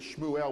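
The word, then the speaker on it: שמואל: Everyone seems to agree that Shmuel was the correct pronunciation of that, but that's another name that's entered into English as Samuel.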